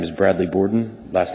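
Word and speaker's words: Bourdon: time to speak tonight my name is bradley borden last name is spelled b-o-u-r-d-o-n and i'm the assistant chief judge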